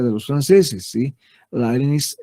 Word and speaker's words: Leibniz: Leibniz es la forma de pronunciar de los alemanes, ¿sí?